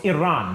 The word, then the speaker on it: Iran: think it's called or no it's Iran that's how you say it I'm just an [